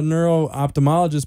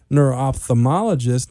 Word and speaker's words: neuro-ophthalmologist: able to nail that I always called a neuro opthamologist but when I heard you say it neuro-ophthalmologist it makes sense with the way it's spelled David you know you